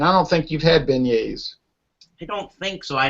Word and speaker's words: beignet: that what about you uh har you've had beignet no no never heard of them if you look it up on the internet looks like beg Nets begets that's the French way of French way